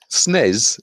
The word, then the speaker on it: SNES: rule, I suppose, but SNES just seems a natural thing. When you see it written out, you naturally want to say it like that. SNES is one syllable. S-N-E-S... That's four syllables.